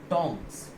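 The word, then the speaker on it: tongs: इसका सही प्रोनंसिएशन होगा सही उच्चारण जो होगा वो होगा टोंग्स।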